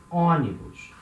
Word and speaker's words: ônibus: It means bus, ônibus. So we have letter O before letter N, and it has a nasal sound.